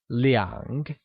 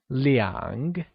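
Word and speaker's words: 两: shall say - as Liang and not as are as we learned before - translates to Liang which is pronounced using a falling rising tone here's an interesting tip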